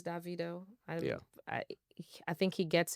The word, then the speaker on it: Davido: as they should say I wanted to see how you pronounce his name okay you said Davido that's because like a Nigerian person told me his name is Davido you know but I've heard yeah it's Davido um it's Davido I I think he